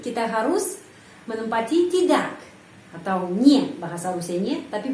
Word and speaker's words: не: Kita sudah tahu tidak itu nie, ny, 2 huruf. Tapi pengucapannya biasanya ni. Kenapa? Karena huruf Y itu tidak mendapat penekanan dalam kata tidak, dalam kata nie. Jadi pengucapannya ni.